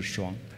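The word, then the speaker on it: 瀧: water on the left Some people pronounce the word as « lung » But it’s actually « Shuang» Yu Yin Shuang Means the smallest sound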